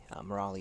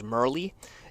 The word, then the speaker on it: Murali: And for anyone that is Indian, his real name is Murli, but It took me about 6 months to learn how to pronounce Murali, and so I just call him Murali because I've been doing that for so long.